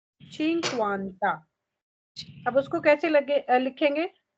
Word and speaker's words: cinquanta: Cinquanta, चिंक्वांता।